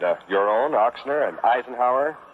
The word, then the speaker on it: Eisenhower: your own ochsner and eisenhower oh they used to pronounce that eisner what do they yeah